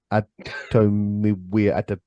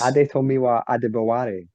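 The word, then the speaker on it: Adetomiwa Adebawore: In which case, I'm going to go for the guy I can't pronounce his name. Adomiwia. Can someone help me out here? Oh, Felix. Adetomiwa Adebaware.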